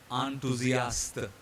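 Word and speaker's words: enthousiaste: We don't say ta, we always say ta in French. So in the sample word, the spelling you can see here, it is ENTHOU. So this in English is enthusiastic actually, but in French it will be enthusiaste.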